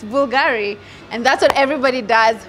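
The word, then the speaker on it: Bvlgari: you'll never forget right it's like Bulgari you never know it was a bull because it's a v but then when you learned now you want to tell everybody guys it's Bulgari and that's what everybody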